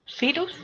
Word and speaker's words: Virus: Ja, wie das Virus. virus. La mayoría de palabras, casi todas, pues se pronuncia la FAU como una F, ¿cierto? Pero hay algunas pequeñas excepciones como esta, donde es virus.